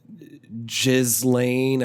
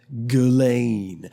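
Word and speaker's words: Ghislaine: lot of people pronounce her name wrong because it's spelled really weird but they've heard J's lane I've heard Islan it's GU Lane lady ghilane Maxwell she was the groomer some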